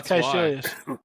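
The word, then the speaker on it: Kaecilius: Yeah, Caecilius was never named at this point, but it is Caecilius.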